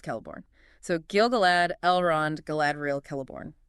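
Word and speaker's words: Celeborn: Kellibornne again, pronounced Kellibornne.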